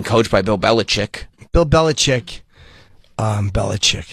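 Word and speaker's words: Belichick: say his name anymore bill it's Bill it's bellich Bill bellich yeah because you your sinus is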